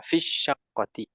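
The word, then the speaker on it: في شقة: Maka meskipun ada ya sukun, sebetulnya pelafalannya dari fi langsung ke shin. Jadi seolah-olah ya-nya nggak dibaca. Fisyaqqati.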